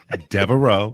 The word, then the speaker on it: Devereaux: How you pronounce it? Devereaux. Devereaux.